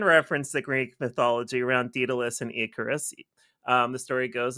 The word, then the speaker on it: Daedalus: It's pronounced Daedalus, by the way. It can be pronounced both ways, actually. The AE is what makes it actually possible to say it both ways.